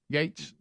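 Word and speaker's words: Gaetz: things and uh Matt Getz uh is that you say his name yeah gets Gates yes yes uh he he is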